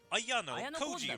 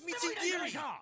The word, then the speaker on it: Mitsurugi: He's Ayano Koji, RIGHT? NOT EVEN CLOSE. THE NAME IS MUIRI. JEEZ, NOT EVEN ONE SYLLABLE, RIGHT?